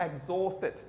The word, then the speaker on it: exhausted: Okay, H silent होता है। British की आदत है ये एच को अक्सर साइलेंट करते हैं। ओके, बीच में भी, स्टार्ट में भी, अक्सर जगहों पे। Hello can I speak in hospital, hello can I speak in hospital, तो एच को साइलेंट करते हैं। एग्जॉस्टेड मीन वेरी टायर्ड, बहुत थका हुआ।